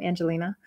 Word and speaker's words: Ayngelina: The Y is silent in my name, Angelina.